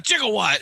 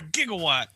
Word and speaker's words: gigawatt: right here Marty knew the right pronunciation of that word he's like what are you talking about a jigawatt it's called a gigawatt you guys are starting